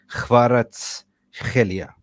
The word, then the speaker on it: Kvaratskhelia: Kvaratskhelia.